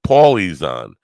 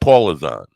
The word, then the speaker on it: Paulie Zahn: Paulie Zahn, not Paula Zahn.